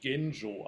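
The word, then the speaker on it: Genjō: um a Chinese monk whose name in Japanese is pronounced genjo I think in Chinese it's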